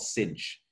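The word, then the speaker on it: sinh: it in the name so the hyperbolic tangent we have it's affectionately called tange hyperbolic cosine is called kosh hyperbolic sine is called cinch right so if you're talking about them that's how you would usually say them for the other ones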